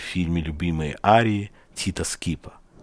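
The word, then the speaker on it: Schipa: Вместо него пел другой знаменитый итальянский певец, участвующий в фильме «Любимые арии» Тита Скипа. Так его имя произносили по-русски. По-итальянски же оно звучит как-то между Счипа или даже Шипа.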